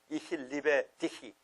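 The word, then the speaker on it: Ich liebe dich: 리베가 러브니까 이히 리베 디히. 디히. 이 히만 발음 나야 돼.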